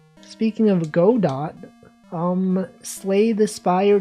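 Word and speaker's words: Godot: That's literally Go Dot. Speaking of go dot, um, Slay the Spire 2, that is in fact a GDO game that is available right now.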